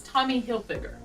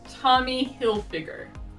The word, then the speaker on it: Tommy Hilfiger: by talking about three more brands one is tommy hilfiger tommy hilfiger this brand is famous for their american themed